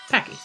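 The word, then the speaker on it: Paci: Okay, Chastity Monroe Bozovsky says, how do you pronounce Packy, P-A-C-I? Is it Pacey or Packy? And the answer is Packy.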